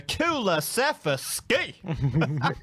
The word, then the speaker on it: Kulusevski: Put an extra syllable in there, Kulusevski. Yeah, I think we need to, mate.